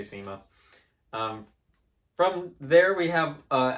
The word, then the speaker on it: CYMA: so good job there seema or saima however you know people pronounce things all sorts of all sorts of different kinds of ways i'm going to say sema from there we have